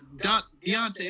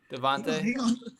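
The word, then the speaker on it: Davante: Deontay Adams. Devontae. Yeah, Devontae Adams. I said his name wrong.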